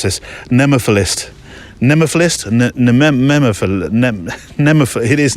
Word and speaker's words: nemophilist: bit because I'm trying to remember how to pronounce this, nemophilist. Nemophilist? It is nemophilist.